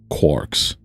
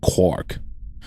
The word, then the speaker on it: quark: The cry of the gull was clearly intended to rhyme with mark as well as bark. Another such words. I have to find an excuse to pronounce it as a quark.